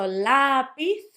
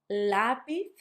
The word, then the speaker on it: lápiz: Let me say the 3 words again so you can notice that stress. Raton, not raton. Lápiz, not lápiz. And teléfono, because I know you said telephone, so it would be teléfono if you went with the English.